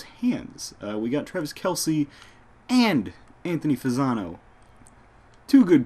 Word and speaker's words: Kelce: in fact I thought Travis Kelce or is Travis Kel sorry I say Kelsey all the time cuz somebody mispronounced that once and it's firmly implanted in my brain that way I thought he should